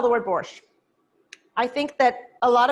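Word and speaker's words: borscht: at the end so when you say borsch in russian it almost sounds like you're ending with the letter t so i think in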